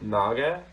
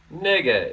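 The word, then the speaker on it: 那个: the filler word nega can we pronounce both naga and nega but for this usage nega is normally used confusing chinese word [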